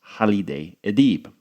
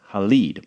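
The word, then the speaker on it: Halide Edib: First is Turkish feminist Hal Adib. I said Haleid, which I think is actually a male name, so sorry about that. It is Hal Adib.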